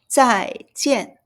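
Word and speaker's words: 再见: Then both are fourth tone, as you see it, so we have to hit it. z ai zai j ian jian Zai is again.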